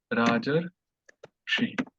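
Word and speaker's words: राजर्षि: So both of them are replaced with Ar. So we get Rajar Shi.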